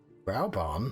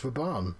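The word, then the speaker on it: Raubahn: Rauburn? Who the fuck's Rauburn? It's Raban.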